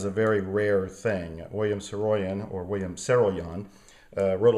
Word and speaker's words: Saroyan: When I was a developing author, one of the writers who deeply influenced me that I used to pronounce as William Saroyan is actually William Saroyan.